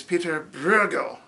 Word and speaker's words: Pieter Bruegel: ok so we're like all right so it's Pieter Bruegel well there's this other thing about Dutch they